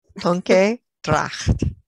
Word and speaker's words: Tonke Dragt: Tonke Dragt.